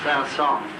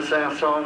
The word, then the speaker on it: Saint-Saëns: The Carnival of the Animals, I'll tell my story, was written a long time ago by Camille Saint-Saëns for a Swedish princess.